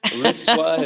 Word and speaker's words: LISWA: How are we going to say it? LISWA? Is that what you said? LISWA is how it's been pronounced so far.